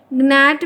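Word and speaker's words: gnat: Next देखिए, नैट में क्या साइलेंट है? बताइए 34 में क्या होगा? तो ध्यान रखिएगा एक ही ऑप्शन है, ये जो जी है वही साइलेंट है।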